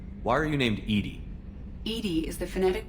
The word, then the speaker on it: EDI: is a jar why are you named Edy Edie is the phonetic pronunciation of e di that is an acronym